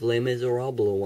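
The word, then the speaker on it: Les Misérables: a new wave of Les Miserables on videos yes that is how you pronounce it I feel as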